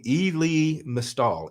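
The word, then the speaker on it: Elie Mystal: there's a guy named e lee mistahl i e-l-i-e-m-y-s-t-a-l-i that's how he pronounces his name he's a black guy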